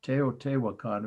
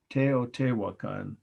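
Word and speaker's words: Teotihuacan: it's very self-descriptive temple of the feathered serpent te o te wakan of course i'll spell for you slowly t e o t i h u a c a n tao te wakan mexico 350 a.d or ce okay so now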